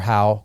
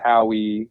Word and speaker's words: Howe: I don't know, but it's Howe for you. Yeah, it's Howe. I get all different kinds of things. Howie, Ho, Howe.